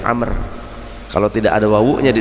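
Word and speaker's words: عمرو: Dari Amr bin Shu'aib, kalau ada ain, mim, ra, waw dibacanya Amr.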